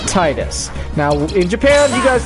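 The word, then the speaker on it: Tidus: name fetus in America so in America it's tightest now in Japan you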